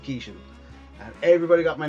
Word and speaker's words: Keeshan: first arrived in America, all Americans could always pronounce my second name correctly. And this guy used to go, "Hey, you know, Captain Kangaroo?" "Yeah, you know Bob Kishan?" "Yeah, this is Kishan."